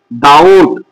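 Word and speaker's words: doubt: যখন বি এর পর টি আসে তাহলে বি এর পর টি এসেছে মানে বিটা পড়া যাবে না। এটা হবে উচ্চারণ কি হবে? ডাউট ডি ও ইউটি ডাউট beta উজ হবে।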